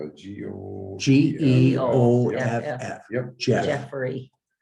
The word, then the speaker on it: Geoff: Geoff, Yep. Jeff, Jeffrey. Not Joffrey. no, Jeff, Jeffrey. Jeff, Jeff. Jeff. Just Jeff. G-J-E, the O follows it, so the E is pronounced, and the FF makes Jeff.